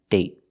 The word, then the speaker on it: date: Other example, day, day, and date, date. So with date, we see the vowel is shorter because you have a stop T at the end.